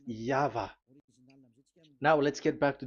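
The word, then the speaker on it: Yahweh: Pronunciation is equal V. It is V. Y H V H. So it is YAHVAH.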